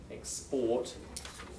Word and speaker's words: export: confuse it with expert export and that stress is important here export verb export now export you export water but water is an export so that's a common